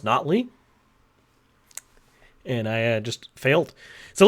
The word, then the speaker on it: Notley: before the election that not Lee's name was pronounced notley and I just failed